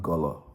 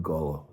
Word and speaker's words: Igolo: Once they get up north is when they get to Igolo, which Abi pronounced Golo, which is correct pronunciation. They drop the I in front of the Igolo and call it Golo.